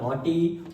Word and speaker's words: naughty: GH को silent कर देते हैं। टी का तो साउंड है, लेकिन GH हमारा क्या हो जाएगा? साइलेंट हो जाएगा। जब साइलेंट हो जाएगा तो क्या हो जाएगा? ये टी, और टी में ई की मात्रा लगे तो टी बन गया नॉटी।